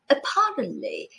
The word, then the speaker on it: apparently: listen to the pronunciation apparently inevitably remarkably supposedly ultimately as you can see the last one is the only one with the stress on the first syllable the others have it on the second listen again rewind and